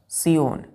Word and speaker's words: scion: चलिए दूसरा वर्ड है बच्चों, दूसरा वर्ड है सियोन, SCION। इसको क्या पढ़ते हैं? सायोन। देखिए बच्चों SCION लिखते हैं, SCION, लेकिन प्रोनाउंसिएशन करेंगे हम इसका सायन।